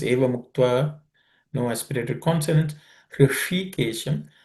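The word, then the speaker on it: ऋषिकेशम्: Hrishikesham, the sh is cerebral sh.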